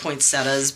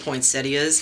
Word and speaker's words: poinsettia: pretty flowers um and I'm probably saying the name wrong it's probably just poinsettas but I I've always said it with like an eye sound poinsettias for some reason I don't